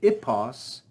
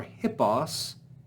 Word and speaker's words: hippos: In Greek, the word ipos or hippos is the name of a horse.